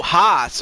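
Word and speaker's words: Haase: Oh, Haas. Okay, so that's how you pronounce his name.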